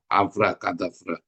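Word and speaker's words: Avra Kedavra: ya Abra kadfra ya bacanya kayak huruf g Ya khadfra nah tapi sebenarnya huruf k kadfra makanya saya dikasih Avra kadavra Avra kadavra ini ya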